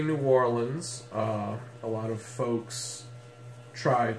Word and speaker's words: New Orleans: number nine is New Orleans and we say New Orleans a lot of folks tried to sound colloquial by saying nollans but actually no one in New Orleans says